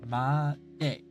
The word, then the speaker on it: まで: I think the D is around the front to the middle of the upper part of the mouth. Ma-de.